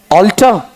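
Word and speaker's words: altar: एल टी ई आर दोनों क्या है होमोफोन है दोनों का उच्चारण क्या है ऑल्टर ठीक है ऐसा बताया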